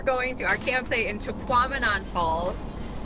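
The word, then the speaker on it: Tahquamenon: And now we're going to our campsite in Taquamenon Falls. That is a mouthful, but it sounds like phenomenon, so we have to like remind ourselves that's how you say it.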